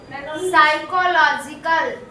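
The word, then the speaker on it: psychological: usually dealt complex complex साइकोलॉजिकल साइकोलिकल देख लो साइकोलॉजिकल का spelling इतना बड़ा होता है पढ़ पाओगे एक बार में साइकोलॉजिकल साइकोलॉजिकल में पी साइलेंट रहता है प्रॉब्लम्स प्रॉब्लम्स इन द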